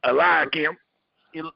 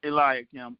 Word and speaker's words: Elim: you say brother Al how you pronounce that elim elim it's like Eli a li yeah I understand brother